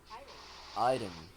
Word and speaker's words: item: And it is I. Item. It's I. Item.